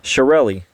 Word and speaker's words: Chiarelli: that was almost perfect shiorelli shirelli say it with me showrelli sharrelli shirelle there you go shirelli shirelli man what is that